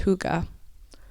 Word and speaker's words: hygge: own levels of happiness so first what is Huga it's an interesting word and it's spelled h y g g e and it's pronounced Huga so I'm going to read from Denmark's country